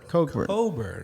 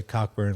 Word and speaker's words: Cockburn: idea no idea that he says that it's pronounced cochlear coburn coburn c and the k sound he's saying it's silent i've heard enough's enough